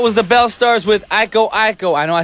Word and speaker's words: Iko Iko: I was like, Brian, you pronounced it wrong. I did it for you guys. Making sure you're listening. It's Iko Iko.